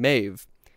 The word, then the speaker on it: Medb: And so outside Ulster, in the kingdom of Connacht, there lived a greedy queen, Medb. And again, this is a brilliant demonstration of how awful the Celtic writing systems are, because Medb is spelled M-E-D-B, which is just fantastic.